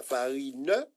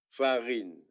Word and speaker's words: farine: Donc, poule va perdre son E et farine aussi. Ce n'est pas farin, mais farine. En créole, toutes les lettres se prononcent. Il n'y a pas de lettre muette.